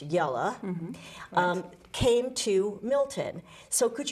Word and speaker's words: Jelle: descendants of yellow roos that's j-e-l-l-e and in dutch it's pronounced yellow came to milton so